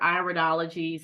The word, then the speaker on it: iridology: Iridology or iridology, some people say it differently, but I say it or pronounce it iridology.